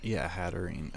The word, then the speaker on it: Hatterene: Yeah, Hatterene is the third version. Hatena is base, and Hattrem is the middle. So I think, well, Hatterene. Okay, I think I was just putting too many syllables on it.